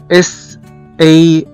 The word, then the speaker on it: salt: وزي كمان كلمة salt، S-A-L-T، اللي هو ملح، في ناس كتير جدا بيقروها وبينطقوها غلط، هي بتنطق salt، salt، S-A-L-T، وهنا بننطق حرف الـ A كأنه حرف O.